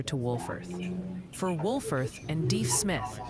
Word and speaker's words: Deaf Smith: For Wolfforth and Deef Smith for Deaf Smith County. Deef Smith, okay.